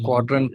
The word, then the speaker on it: Qdrant: uh and your website URL is uh the quadrant website yeah yeah you can find some articles on squadron's website it's it's spelled differently right it's not quadrant it's q